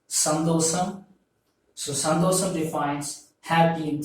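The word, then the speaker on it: சந்தோஷம்: So you have to pronounce this as sandosam.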